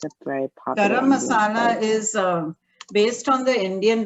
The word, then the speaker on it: garam masala: good yeah can you tell me about this garam patala that spice what you told me i'm sorry i didn't pronounce it yeah it's a very popular garam masala is based on the indian region like southeast